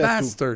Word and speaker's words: Basstard: Bastard. OK, il faut le prononcer. Ça vient de, c'est Ouais. mon prénom. Puis Bastard. Bass.